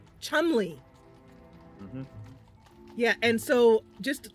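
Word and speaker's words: Cholmondeley: we're gonna ask about now how do you pronounce this Chumlee Chumlee yeah and so just like a little like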